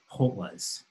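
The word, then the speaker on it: kgotla: In fact, every tribe has what are called hotlas. The K is pronounced like an H, hotlas.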